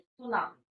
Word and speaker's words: tsunami: Today we will continue our previous chapter, that is सुनामी। तो बच्चों, सुनामी आपको clear हो गया होगा। इट इज a Japanese word. Japanese word है सु। टी इसमें साइलेंट रहता है बच्चों।